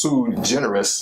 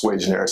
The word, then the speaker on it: sui generis: It's originally pronounced Sui Generis if you look it up in Latin, but it's pronounced Sway Generis in my house anyway.